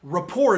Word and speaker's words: rapport: is a weird word rapper rapper or AP pew RT so rapport is actually how you pronounce it spy French because they're always doing some weirdo silence but it is this